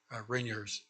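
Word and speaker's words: Reniers: incorrectly on the uh it's re n i e RS rinear is the pronunciation um I'm used to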